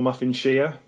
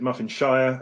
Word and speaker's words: Muffinshire: no um but uh you could also pronounce it muffin Shire as in a Shire horse so uh we've